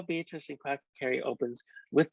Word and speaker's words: Beatrice: but she knew this her name was indeed beatrice it had a certain flow three syllables and never just two thank you very much and so that's how beatrice and crack carry opens